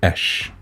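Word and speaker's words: אש: the hebraic sense uh it's actually usually written written with two letters and it will be pronounced Ash okay so by itself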